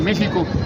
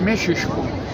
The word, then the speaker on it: México: No se dice México, es mexisco y tien una apellido, se llama Mexisco Notitlan.